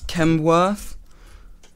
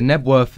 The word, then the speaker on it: Knebworth: I think it's Knebworth. So... Knebworth. It might be Knebworth. Is it Knebworth? Yes, it's Knebworth.